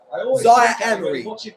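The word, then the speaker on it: Zaïre-Emery: Zaire Emery, that's how you pronounce his name.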